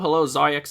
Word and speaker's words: Zaryax: Oh yes, you pronounced my name properly. Good job. Perfect. You can also say Zari. It's a lot easier.